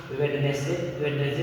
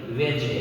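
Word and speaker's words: Wednesday: तो यहाँ पे वेडनेसडे नहीं पढ़ेंगे, वेंसडे क्या पढ़ेंगे, वेंसडे।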